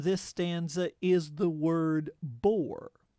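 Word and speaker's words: Boer: stanza is the word bore it's pronounced the same as bore b o r e as in boring that's called a homophone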